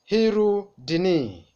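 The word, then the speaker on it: Hirudinea: Hirudini. Let's pronounce together.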